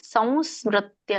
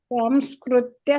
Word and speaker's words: ಸಂಸ್ಮೃತ್ಯ: ಒಂದು ಮತ್ತೆ ಫಸ್ಟ್ ಚರಣದಲ್ಲಿ ಸಂಸ್ಮೃತ್ಯ ಸಂಸ್ಮೃತ್ಯ ಸಂಸ್ಮೃತ್ಯ ಸಂಸ್ಮೃತ್ಯ ಸಂಸ್ಕೃತ್ಯ ಸಂಸ್ಕೃತ್ಯ ಇದು ಸರಿಯಾಗಿ ಇಲ್ಲ ಮಾತಾಜಿ ಜಿ ಸ್ಕ್ರೂ ಕ ಸ ಕೆ ಕ ವತ್ತಿಲ್ಲ ಅಲ್ಲಿ ಮ ಇದೆಯಲ್ಲ ಹಾಗಾಗಿ ಮ ಹೇಳ್ಬೇಕಲ್ಲ ನಾವು ಸಂಸ್ಮೃತ್ಯ ಸಂಸ್ಮೃತ್ಯ ಸಂಸ್ಕೃತ್ಯ ಸಂಸ್ಕೃತ್ಯ ಸರಿಯಾಗಿ